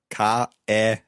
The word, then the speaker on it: Kärnten: Kärnten. Okay, or Kärnten. Now, so far, when we talked about the pronunciation, we didn't speak about the spelling of the words.